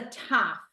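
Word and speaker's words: תו: tough t a v Tav we say tough right now for us for us missor conservative Jews the letter is pronounced the same with the dot in it and with the dot knot in it it's a t like your letter T but I'm going to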